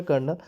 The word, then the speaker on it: colonel: देखिए कर्नल means होता है COLONEL, इनका जो प्रोनाउंसिएशन होता है कर्नल, एक सैनिक अफसर।